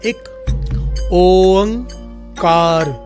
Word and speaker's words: एक ओंकार: बहुत सारे लोग एक ओंकार बोलते हैं, बहुत सारे लोग अलग अलग तरह से बोलते हैं। असल में इसकी प्रोनाउंसिएशन इस प्रकार से है, एक ओंकार।